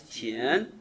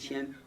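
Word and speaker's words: 天: Chinese is a tonal language. So, Tian, different.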